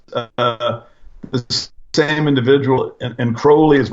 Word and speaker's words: Crowley: Yeah, Crowley rhymes with holy.